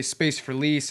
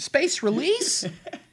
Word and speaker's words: Space4Lease: Like cuz we'll say space for lease and space release.